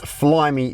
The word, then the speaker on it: Flyme: And then you've also got this Flyme sound system, and Flyme is the brand that they use for the entertainment screen as well.